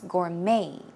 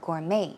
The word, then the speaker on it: gourmet: Gourmet Chef as well in that case the the t is silent it's Gourmet Gourmet as an m a